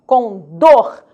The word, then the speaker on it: condor: Última sílaba tônica, condor. Condor, nada de pronunciar condor. Legal? É condor. O nome do pássaro é condor.